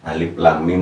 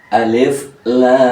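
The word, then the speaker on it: الم: Mohon dijabarkan cara bacanya Ya Alif lamim Nah itu kalau mau kalau mau panjang kalau umumnya yang sedang Alif Lam Mim ya ini kalau yang sedang kalau yang dibaca Alif Lam Mim ini kurang ya karena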